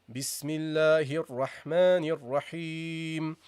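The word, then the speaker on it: بسم الله الرحمن الرحيم: Say B, proper kasra. Bismillahir. And connect the ha of the lafz al-jalala with the ra.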